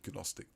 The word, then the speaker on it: Gnostic: So Gnostic, some people say Gnostic. I had to pronounce the G because I'm not really good at spelling and it helps you remember.